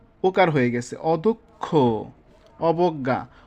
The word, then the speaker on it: অদক্ষ: নম্বরে যে নিয়মটি আছে, মধ্য অ এর পরে যদি ক্ষীয় অথবা বর্গীয় জয় সংযুক্ত থাকে তবে তবে অ এর উচ্চারণ ও এর মতো হবে, যেমন অদক্ষ, অবজ্ঞা।